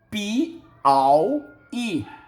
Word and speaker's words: Piauí: É o estado do Piauí. Pi-au-i. Pi-au-i. O I está sozinho, está na sílaba tônica, forma hiato, vem um ditongo antes, mas como ele está na última sílaba, recebe acento.